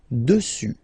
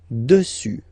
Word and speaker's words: dessus: Final S not pronounced. Dessus. Dessus.